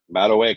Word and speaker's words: Madueke: Right, pronounce his name. Madueke.